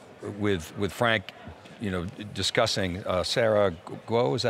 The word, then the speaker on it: Sarah Guo: was physically there with Frank, you know, discussing Sarah Guo, is that how you say her name?